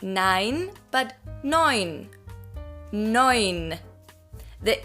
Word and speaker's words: nein: It's the same, just not nein, but neun. Neun. The E and U in German is pronounced as an Oi.